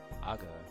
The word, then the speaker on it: アゴ: Ago. Another name for flying fish in the Kyushu and Kansai regions, pronounced ago.